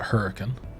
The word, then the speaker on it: Hurricane: we have a place it's spelled hurricane but we call it hurricane uh again Appalachian accent